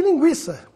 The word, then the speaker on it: linguiça: aguentar bilíngue en chago da mesma forma vamos ver a diferença da pronúncia do Gu mudo para o Gui pronunciado Gu guitarra distinguir seguinte e Gui de linguiça pinguim arguir depois da reforma ortográfica